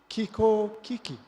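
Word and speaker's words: 気候危機: It's pronounced Kiko Kiki.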